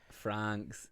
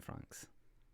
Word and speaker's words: Franxx: Franks that that's how I I read as franks. Okay. Yeah, I think that's how they say it in the the dub is they called them francs.